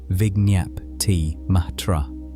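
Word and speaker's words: vijñaptimātra: The term is vig matra pronounced roughly vignyap matra.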